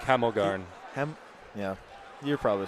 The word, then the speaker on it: Hemelgarn: It's like Hemelgarn.